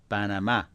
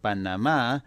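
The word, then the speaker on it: Panamá: saying P we'll say p instead of P banama however there is nothing wrong with saying Panama some of the time because that's normal Spanish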